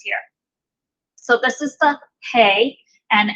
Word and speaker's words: He: So this is the Hey, and it's pronounced just like our H sound.